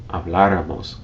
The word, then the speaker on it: habláramos: Except in the case of the nosotros or nosotras forms, when you stress the third to last syllable, habláramos, comiéramos, abriéramos.